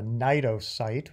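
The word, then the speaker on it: cnidocyte: the cell itself is called a NATO site which also has a it's silent but inside contains kind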